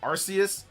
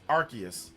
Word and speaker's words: Arceus: Like Arceus sounds like a bad word, like your ass or arse, Or like that. So, in some regions, it's like, no, it's Arceus.